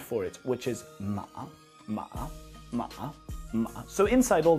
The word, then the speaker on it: 马: here is the sound for it which is ma ma ma so inside all the other characters